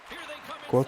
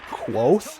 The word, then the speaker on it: quoth: Quote the Raven, Trevor Moore. I was always saying quote the Raven, Trevor Moore, but I guess it's actually quoth. Quoth.